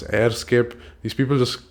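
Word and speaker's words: EHRScape: gonna google EHR Escape I think it's supposed to be pronounced as airscape these people just like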